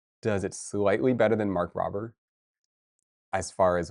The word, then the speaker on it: Mark Rober: Oh, Mark Robber.